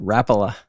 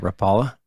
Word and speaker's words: Rapala: comes from the rala rala that's how you pronounce that right Rapala it's not Rapala we learned this last season you've ever spoken